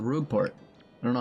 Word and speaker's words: Rogueport: I don't think there's any actual way to pronounce it. Anyways, that means you must come. Peach. It's Rogueport, that's how I've always said it.